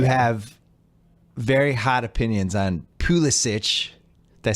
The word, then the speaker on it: Pulisic: You have very hot opinions on Pulisic.